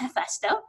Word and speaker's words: HeFESTO: so you know so I would pronounce this F esto right because we don't aspire RH so but you know sort of combination of English and so on this is pronounced F esto it is you know the Lord or the